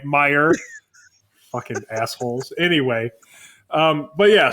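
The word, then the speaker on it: Meijer: I think I called it like Major or Major. If you put a J in it, I'm going to pronounce the letter. All right, Meyer.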